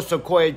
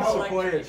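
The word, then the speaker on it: Sikoa: fashion okay as solo seoa just what's his name solo like the tree I said it right then one sequa tree one Sequoia tree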